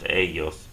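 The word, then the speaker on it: ellos: we're going to add start off with the e l no accent mark this time on the E and add another l and an OS and it's going to be pronounced AOS and and that of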